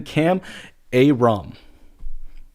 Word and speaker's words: Kam Ayrom: And then Kam Ayrom.